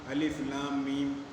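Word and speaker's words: الم: تو اس کو ہم علم نہیں پڑھیں گے، بلکہ ہر لفظ کا تلفظ الگ الگ کیا جاتا ہے، ہر لفظ کا تلفظ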